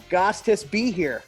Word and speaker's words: Gostisbehere: Gostis be here. That's how it's spelled. Gostisbehere. Fair. Yeah, be here.